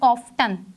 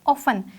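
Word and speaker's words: often: Next word is ऑफन, इट इज़ not pronounced as ऑफ्टन, इट इज़ ऑफन, इसमें टी जो है वो एक साइलेंट लेटर है।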